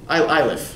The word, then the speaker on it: Eilif: Eilif.